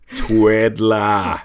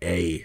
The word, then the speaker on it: Twiddla: Twiddlea. Or no. No. No A. No E. Twiddla. I wanted to spell it Twiddler. Yeah. But it's not. It's Twiddla. So Twiddla, when we're talking